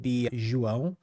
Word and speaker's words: João: I go by the way that you would pronounce my name in Portuguese would beong there is like a it's almost like a French genessa in there or something but yeah